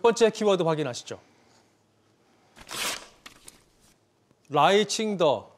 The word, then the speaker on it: 라이칭더: 충이라고 부르는데요 그 선거 결과가 나왔습니다 자 당선자는 라이칭더 사승 1성 2성에서 중국으로 라이더라고 읽는데요 자 우선 이 라이 칭가 어떤 인물이냐이